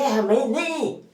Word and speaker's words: Jamenei: Ahora me he enterado cómo se dice, se dice Jamenei, o sea, Jamenei, la primera J no la puedo decir, lo siento, la voz como Jamenei, Ali Jamenei.